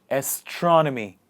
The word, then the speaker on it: astronomy: list is astronomy astronomy the stress is in the beginning of the word astronomy what is astronomy the